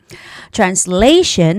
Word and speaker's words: translation: Translation has a stress on the second syllable, which is translation.